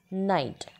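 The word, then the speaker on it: knight: K night Kellogg aware but here K is silent so we don't say it night it is night we will pronounce it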